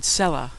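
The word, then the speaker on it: סלה: S is the first letter in the Hebrew word cellah which appears frequently in the biblical book of psalms.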